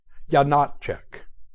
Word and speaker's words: Janáček: Step 1, place an accent on the middle syllable, Janáček. Step 2, place an accent as well on the first syllable, Janáček, and say it quickly. Janáček.